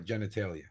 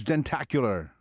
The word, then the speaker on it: jentacular: And I liked your genitalia. No, it's jentacular.